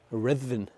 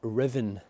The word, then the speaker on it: Ruthven: And ever since that point, Ruthven, which I'm also told should be pronounced Ruthven or Riven, has been ruined ever since.